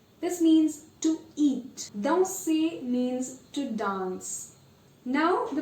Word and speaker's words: danser: Danser means to dance. Now the pronunciation of OI.